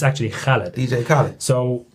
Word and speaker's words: Khaled: It's actually Khaled. DJ Khaled. So pronunciation for us is very easy.